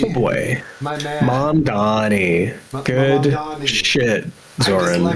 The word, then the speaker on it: Mamdani: Mamandi. Oh boy. My man. Mamdani.